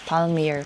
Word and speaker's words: palmier: Finally got this palmier. Paano ba yun pronounce palmier?